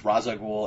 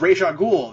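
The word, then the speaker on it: Ra's al Ghul: it's it's uh it's it's racial ghoul or it's raza ghoul and it's pronounced differently depending on who's on who's writing and what they're doing with it and um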